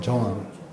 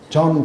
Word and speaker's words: 존: 그 존 발음할 때 잘 해야 돼요. 그냥 하면 잘 못 알아들어요. 그래서 조흔 그려보세요. 조흔. 근데 그걸 빨리 해보세요. 네. 그러면은 정확하게 발음하는 거예요. 존. 존 그러면 안 돼요.